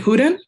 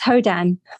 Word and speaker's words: Hodan: discuss yeah okay um is it houdin I'm so sorry if I butchered that um it's hodan it's okay I appreciate